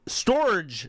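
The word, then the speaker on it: Storj: he put money into ethereum but that wasn't Storage storage that's it thank you bald man uh it spelled it's spelled like stor but with a j instead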